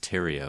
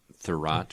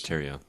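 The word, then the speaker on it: Thieriot: could be wrong but I think it's pronounced Tero is it not Max Tero Tero yeah not thorat or whatever Justin said I thought I thought it was theough no Tero is I'm pretty sure it's Tero I could be wrong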